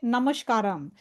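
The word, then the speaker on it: नमस्कार: Namaskara. We say Namaskara. Right? Namaskara. Do we say Namaskara or Namaskaram? Because I saw a lot of people say Namaskaram. Namaskaram. Maybe that's in a different language. But in Sanskritam Namaskara.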